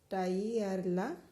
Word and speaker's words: tagliarla: Tagliarla means cut it. Here the G and L is silent. So posso tagliarla.